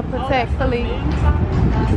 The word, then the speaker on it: Patek Philippe: Pronounce that. Dior? No. Patek Philippe? Yeah, Patek Philippe.